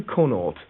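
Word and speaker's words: Connaught: details what's your full name it's conort that's spelled c o n n a u g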